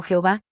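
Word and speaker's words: יהוה: El nombre, que algunos pronuncian como Yahvé y otros, la mayoría cristianos, como Jehová, aparece 5.410 veces en la Biblia, 1.419 de los que están en la Torá.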